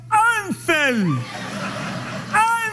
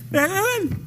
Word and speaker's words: Hansel: Pero a H no suena, sería Ansel. Ansel. Y es con J. No, es. Sella. Póngala con J, no hay ningún problema. ¿Se acentúa? Bueno. ¡Hansel! ¡Hansel! ¡Hansel! ¡Hansel! Lleva acento en la L.